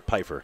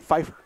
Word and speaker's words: Piper: see shy Mountain again we're not going to mispronounce her name Hunter Piper Piper I've been saying Fifer yeah well no relation